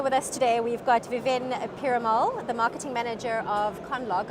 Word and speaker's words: Viven Perumal: and over here with us today we've got viven piramal the marketing manager of conlog i hope i pronounced your name correctly that's correct thank you